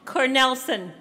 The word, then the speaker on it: Cornelison: Oh, she told me I said it wrong. Cornelson. And we even practiced that one.